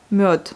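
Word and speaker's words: мёд: Et par exemple, le miel, miod. Elle est précédée, le D est précédé par une voyelle, donc elle devient sourde à la fin.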